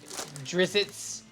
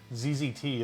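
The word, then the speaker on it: Drizzt: hour well I think it's just a double z followed by another another consonant it's like doesn't really feel good it's like zzt okay I'm not sure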